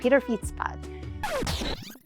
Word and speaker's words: Pieterfietspad: Pieterpad.